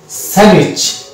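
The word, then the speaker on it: sandwich: স্যান্ডউইচ, এখানে ডি উচ্চারণ হবে না, স্যান্ডউইচ, এবং এই ট উচ্চারণ হবে না, টি।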